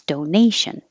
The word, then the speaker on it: donation: But if the word is donation, the shun makes the syllable before stressed, and now it's donation.